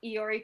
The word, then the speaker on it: Iori: reviews and strange horizons find me on twitter at iori that is spelled i o r i there are no ls in my name and valerie i'm valerie